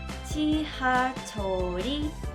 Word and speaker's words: 지하철이: Y en específico, esta letra cuando está solita suena como R, pero cuando está acompañada suena L. Por eso al final sería 지하철이 어디예요?